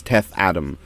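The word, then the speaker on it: Teth-Adam: like when it's when it's spelled and pronounced teth Adam that's just weird like it's not what's up it's not wrong it is teth Adam but teth attempt it sounds so much more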